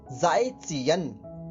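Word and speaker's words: 再见: दोस्तों जो जेड होता है वो चाइनीज में ज़ होता है, ज़। और जो जे होता है चाइनीज में उसको हम च बोलते हैं, चम्मच वाला च, ठीक है।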